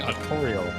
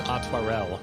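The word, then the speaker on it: Artoirel: time is against us i've been saying his name wrong the whole time luckily it doesn't come up much i wasn't using artorial but it's otarel which makes sense that i really look at how it's spelt that was a cute little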